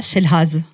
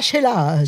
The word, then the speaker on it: Chelaz: Elsa Chelaz, je le dis en français. Ouais. Mais prononce-le toi réellement. Alors Elsa Chelaz. Elsa Chelaz. Chelaz, c'est un nom composé, un ancien nom allemand.